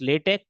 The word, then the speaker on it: LaTeX: distinct features between this latch as well as the MS word although it is written as LX we have to pronounce it as a latch latch lat te okay so latch and